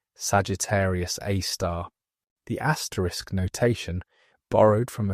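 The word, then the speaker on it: Sagittarius A*: While the compact central source received the designation Sagittarius AI pronounced Sagittarius A star.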